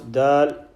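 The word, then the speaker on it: د: Pronounce dal, tip of the tongue touches the back of the upper front two teeth. D, do, di, not d, do, di, not onto the gums only, just like letter da.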